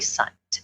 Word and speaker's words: Sundt: is um at sunt and if you don't know how to spell that thing think of a bunt cake with an S so s n d